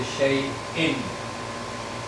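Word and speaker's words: شيء: So we don't say shay'in, we don't pronounce it like a ya, we say shay'in, because it's actually a hamza.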